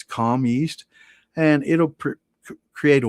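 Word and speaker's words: Kahm: It's called a calm yeast, and it's definitely going to be on that fruit. And it's spelled KAHEM. It's a wild yeast. It's calm yeast, and it'll create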